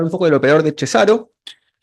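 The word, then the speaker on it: Cesàro: Bueno, vamos a hablar un poco del operador de Cesaro, que estuvimos confirmando que se pronuncia así. No es Cesaro.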